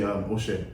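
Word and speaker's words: ẹ ṣé: If you say thank you in Yoruba, you would say Oshe. Oshe? Yeah, Oshe. And then I would say Kodo. Spell it for me, because I need to know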